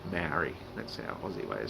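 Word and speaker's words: Māori: I'm going to change it so it's AU, Olimaroa, the traditional Maori name for Australia. I'm sorry that I always say Maori, that's our Aussie way of saying it, but they're actually Maori.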